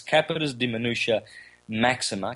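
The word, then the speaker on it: capitis deminutio maxima: forgot when i said i said it wrong last time it's capitas de minutia maxima capitus de minutia media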